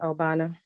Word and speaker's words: Agbano: for the record obana the g is silent right yes Nigeria I apologize very